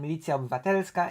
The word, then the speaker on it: Milicja Obywatelska: Milicja Obywatelska, Polish pronunciation Milicja Obywatelska, in English known as the Citizens Militia and